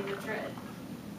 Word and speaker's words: Madrid: And in Spain you'd say Madrid. Madrid, Iowa, pronounces it differently, but we're talking about Spain.